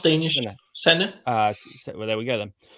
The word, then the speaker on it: Senne: San, Senne. is that how you pronounce it? It sounds Danish. Senne.